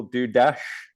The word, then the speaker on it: Dudas: So I'm having a conversation with Dudas-Smith. Is that the right pronunciation of your name? I suppose if you were getting really technical, do dash because it's Hungarian, but then I'm not fussy.